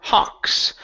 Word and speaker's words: hawks: Okay, so the AW, you guys, is not pronounced awu. Okay, so the W in this, when you have an A and a W together, does not sound like an oo.